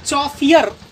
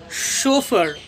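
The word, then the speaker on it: chauffeur: शोफर, इसे आप चौफियर नहीं पढ़िएगा, शोफियर भी नहीं पढ़िएगा, इसे पढ़ेंगे हम शोफर।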